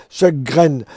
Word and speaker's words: Sjögren: les deux sur le plan scientifique, S-J-O, tréma, Sjögren.